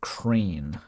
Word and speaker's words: crayon: I know that some people pronounce it crane. I I actually do pronounce it crayon though.